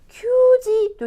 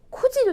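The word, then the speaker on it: 九時: 큐지도 될 것 같고 쿠지도 될 것 같아요. 그런데 일본 사람들은 큐지라고 말하지 않아요. 거의 말하지 않고 쿠지라고 합니다.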